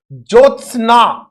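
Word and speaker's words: ज्योत्स्ना: जोचना में जोचना में ध्यान रखने वाली बात क्या है कि हम कैसे बोलेंगे ये जो आधा त आधा स क्योंकि हम उस पर जोर नहीं दे रहे हैं जोसना उच्चारण में हलंत जैसा ही हम इसको बोलेंगे इसलिए यह शुद्ध होगा त और स दोनों ही आधे होंगे इस बात पर मैं पुनः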